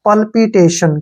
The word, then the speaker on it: PALPITATION: टी ए का उच्चारण हम टे के रूप में करते हैं, और टी आई ओ का उच्चारण हम शय के रूप में करते हैं, और एन का उच्चारण न करते हैं।